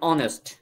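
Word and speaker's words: honest: আর এখানে দেখেন অনেস্ট, আর এখানে খেয়াল করেন এখানে এইচ আছে, এইচটা কিন্তু আসলে কনসোনেন্ট, বাট উচ্চারণ হয়ে যাচ্ছে ভাওয়েলের মতো, অ অ অ।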